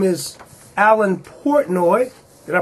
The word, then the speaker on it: Alan Portnoy: His name is Allan Portoi. Did I pronounce that right, Alan?